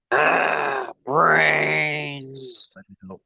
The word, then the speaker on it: BRAINZ: Speaking of D, though, ladies and gentlemen, don't forget the coupon code BRAINZ, BRAINZ, which is pronounced how, D? Brains.